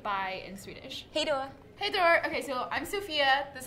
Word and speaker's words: Hej då: Hey Dor. Okay, so I'm Sophia. This is Elsa. And hey Dor. Hey Dor. Hey Dor. Hey, I just said hey Dor. Hey Dor.